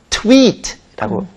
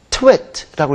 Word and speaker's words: tweet: 우리가 한 문장 한 문장 올리는 것은 tweet라고 발음을 합니다. T-W-E-E-T라고 읽고 근데 트위터 철자를 보면 T-W-I-T-T-E-R이기 때문에 I-T로 읽으면 twit라고 읽으면 이건 바보, 멍충이 이런 말이 되기 때문에 한 문장 올리는 것은 장모음이기 때문에 입을 약간 옆으로 이렇게 찢으시면서 tweet라고 해야 한 문장 올리는 거고 twit라고 하면 이건 다른 말이죠.